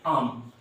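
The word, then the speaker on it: I'm: ध्यान रखिए, मैंने हाईलाइट किया था आपको कि जब आई एम हो तो आई एम को हमेशा हम लोग क्या बोलते हैं? आम. क्या बोलेंगे? आम.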